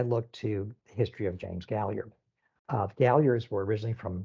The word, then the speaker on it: Gallier: name to gallier and then perhaps Gallia is pronounced gallier okay and then they may move South they